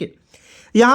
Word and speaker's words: hi: ठीक है, यहाँ आप देखिएगा HI, बहुत लोग इसे ही पढ़ लेता है, नहीं, ही पढ़ना गलत है दोस्त मेरे। इसे क्या पढ़ेंगे? हाय पढ़ते हैं, HI हाय पढ़ेंगे।